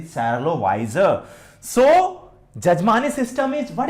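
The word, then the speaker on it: Charlotte Wiser: The correct pronunciation is Charlotte Weiser.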